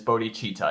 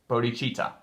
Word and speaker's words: bodhicitta: Bodhicitta, okay? And some people say bodhicitta, but it's bodhicitta, I think. At least from the pronunciation guides I've looked up. But I've heard both. Some people do say bodhicitta.